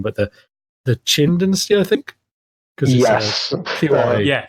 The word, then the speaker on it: Qin: there was the, I'm going to get the pronunciation wrong, but the Qin Dynasty, I think. Yes. Yeah, Qin.